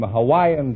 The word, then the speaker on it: Hawaii: i'm from hawaii hawaii is that the correct pronunciation i thought it was hawaiian no that's not right uh hawaii is correct oh you couldn't say